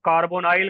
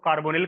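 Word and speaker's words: carbonyl: अब अपना अपना प्रोनाउंसिएशन है, इसको कार्बोनिल करके भी हम लोग पढ़ लेते हैं, कार्बोनिल, कार्बोनाइल, ये आपकी इच्छा है।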